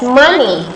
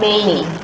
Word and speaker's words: many: You pronounce many as money. Okay, money is different meaning. Okay, if you pronounce money, it means dollars, okay, rupiah, okay, rupiah. And this is not money, but many.